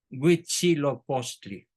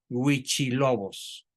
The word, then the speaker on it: Huitzilopochtli: historia de la humanidad, Huitzilopochtli, a quien los españoles denominaron con el nombre de Huichilobos, por no pronunciar bien la palabra Huitzilopochtli.